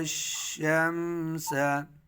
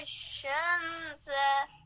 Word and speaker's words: الشمس: وترى الشمس وترى الشمس. इसमें या अलिफ लाम तीन हरफ साइलेंट है रश ठीक है وترى